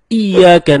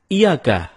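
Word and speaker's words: إِيَّاكَ: nabudu wa iyyaka nasta'in ada yang membacanya dengan Iyakah tidak menekan huruf Ia seperti seperti sebagaimana kita jelaskan tadi bahwa penekanan itu dapat merubah makna kalau kita baca iyakanakbudu dengan menekan huruf ya maka artinya menjadi kepadamu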